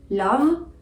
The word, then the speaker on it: love: example in the word love the word love ends with an e but you don't really say the e the last sound is